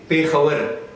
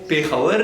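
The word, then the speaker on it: پېښور: अच्छा, अब hard dialect जो है वो बोलते हैं पेखावर and also Pukhto. So अब यहाँ पर आप देखें pronunciation इसकी जो है वो पेखावर and Pukhto. But on the other hand, अगर हम soft dialect की बात करें, so they pronounce it like Peshawar and पुश्तो.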